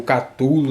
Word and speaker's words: Cthulhu: Como o Cthulhu ou Catulo, dependendo de como vocês queiram fazer essa pronúncia que é tão controversa.